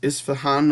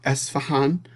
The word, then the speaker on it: Isfahan: and social educational center is isfahan or esfahan you might see it spelled as or pronounced but they have good